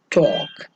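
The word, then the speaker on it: talk: तो और लास्ट जो आपका वर्ड है उसमें टॉक, टॉक, तो इसमें भी जो आपका एल है वो साइलेंट रहता है।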